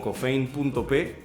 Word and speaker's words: Cofaine: Nos pueden encontrar en Instagram, en Facebook, en Twitter, en TikTok como cofein.p. Se escribe Cofaine.